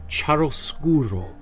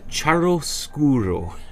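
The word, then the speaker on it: chiaroscuro: want to take away from today is the charoskuro the charoskuro right charoskuro is the is an italian word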